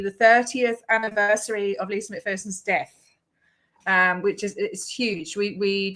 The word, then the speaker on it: McPherson: It's McPherson, isn't it? McPherson. You're an Aussie. It's McPherson, T. Yeah. all the Americans say McPherson. I swear they do. But maybe it's their accent.